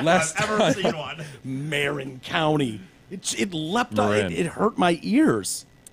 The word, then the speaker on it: Marin: sir, excuse me, I think you pronounced that wrong. It's actually Marin County.